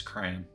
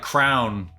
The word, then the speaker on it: crayon: knows it or not official pronunciation you know it's crayon yeah well i i don't think i've ever said it like crown i don't ever think i've said it like crown in my entire life um until just now